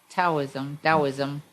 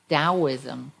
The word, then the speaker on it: Taoism: in the context of Taoism, taught you? You can edit that if you like. I could. Well, Taoism's a weird word because it's spelled with a T and you pronounce it with the D, and there's a long